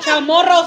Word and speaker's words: Chamorro: Chamorro style, right? That's how you say it, chamorro style.